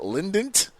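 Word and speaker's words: Lindt: Is that Lynant? It's like Lind and then there's a T. L I N D T.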